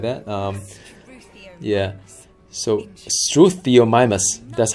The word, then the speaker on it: Struthiomimus: So Struthiomimus, that's how you pronounce it.